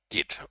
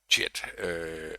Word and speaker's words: Git: Today we are going to talk about GIT or JIT. I tend to pronounce it JIT, but I think the correct pronunciation in English is probably GIT.